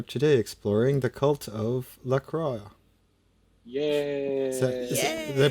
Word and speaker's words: La Croix: pronounce that right lra there are two ways of saying it many people who are fancy like to use the French way to go with lro and then there is the way that the American inventor says it as lacroy lacroy well just like we should follow the I guess the American lacroy because it is an American drink super American the most